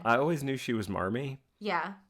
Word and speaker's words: Marmee: Yeah, it's Mommy with a New England accent. So you can, if you just say it like Mommy, Mommy, right? Like, that's how they would have said it.